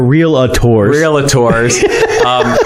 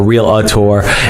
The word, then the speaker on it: realtor: And it's funny because they're realtors. Which when you're a real estate agent, you learn that it's realtor. There's no I or A in between real and tor.